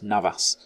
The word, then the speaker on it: Navas: Well, I just realised I called their keeper Neves. It's Navas.